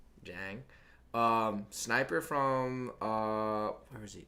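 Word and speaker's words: Niang: How do you say it? It's like Jang.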